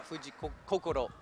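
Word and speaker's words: Fujii Kokoro: two Kor Fuji yeah Fuji Koko is how we pronounce it um which if the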